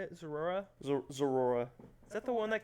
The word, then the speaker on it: Zeraora: Zeraora.